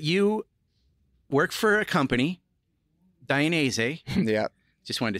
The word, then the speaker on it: Dainese: You've danced around that, but you work for a company, Dainese.